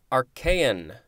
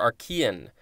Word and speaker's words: Archaean: the just instructions okay are KN or Archaean capital a CH AE